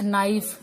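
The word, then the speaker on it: knife: ठीक है, नाइफ, ये मैं आपके साथ डिस्कस कर चुकी हूँ। यहाँ पर K साइलेंट है।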